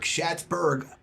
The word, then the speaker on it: Schatzberg: Michael Schatzberg. Thank you, Jimmy. You got my name wrong. Otherwise, 35 years you think you meant my name. I always forget the Berg. Schatzberg, affectionately known I don't think people know my name.